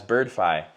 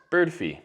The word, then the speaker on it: Birdfy: want to mention that a lot of people pronounce it including myself pretty much this whole video as birdy but they've actually come out and stated that they're pronounced bird fee so some cool features